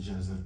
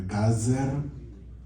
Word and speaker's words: Gezer: Aqui no caso do hebraico é Gezer, aqui pode ser Gezer, no caso do hebraico é Gazer. Então, Gazer, aqui, então pode ser Gezer. Gezer. Já é diferente do Abner. A sílaba atômica é a última.